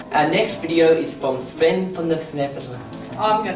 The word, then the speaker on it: Sven: Sven. Actually, it is pronounced Sven.